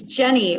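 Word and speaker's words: Jennie: It's Jenny. We just had that conversation in the breakout room. The IE kind of throws people off. But it's Jenny. Then I noticed there was no A, and I'm like, oh, wait, that's not Jeannie.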